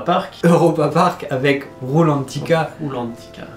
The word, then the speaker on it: Rulantica: Rulantica. Tu l'as bien dit. Oui, il faut bien le dire parce que, attention, on est en Allemagne donc on prononce toutes les lettres.